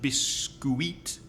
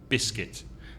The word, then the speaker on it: biscuit: would naturally in Spanish it's not be squeaked be sweet it's just one vowel sound and the vowel sound is it in the second syllable so it's big skit biscuit and the stress is on